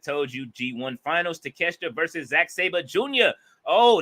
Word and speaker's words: Takeshita: I'm gonna pronounce it the way I see it. Bolo. But it is Takeshita though.